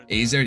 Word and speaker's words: AZR: How to pronounce that. Azer, yeah.